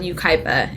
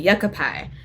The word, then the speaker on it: Yucaipa: It's called Yucaipa in Southern California. Okay, yeah. So if you look at it on paper, it looks like yucca pie.